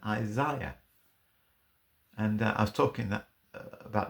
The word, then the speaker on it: Isaiah: right is a ih so Isaiah seems to me a more accurate pronunciation than Isaiah and I was talking